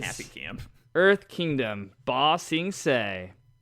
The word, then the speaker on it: Ba Sing Se: Earth Kingdom, Ba Sing Se. They got this for me because I kept saying Bong Sing Se. So now he knows how to say it.